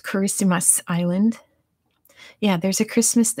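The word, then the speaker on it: Kiritimati: be in the chat it's spelled i believe like this but it's pronounced christmas in the language it's something like that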